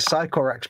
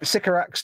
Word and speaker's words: Sycorax: Which I've decided that Games Workshop don't pronounce correctly. Oh, right. Is this Fox speak coming up? So Bayek. They call it Sycorax bronze. No, Sycorax.